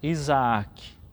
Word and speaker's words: Isaque: Isaque tem duas vezes a letra A também, então nós pronunciamos Isaac.